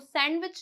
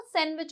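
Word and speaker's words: sandwich: वो सैंडविच नहीं होता। वो सैंडविच होता है। यहां पर भी जो डी है हमारा क्या होगा? साइलेंट होगा। ठीक है?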